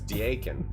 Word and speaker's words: Daken: That's daken, not deacon.